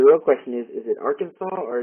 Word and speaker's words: Arkansas: question is is it Arkansas or is it Arkansas well I believe uh the consensus would be Arkansas yeah I don't think that state looked very much like Kansas at all anybody else have anything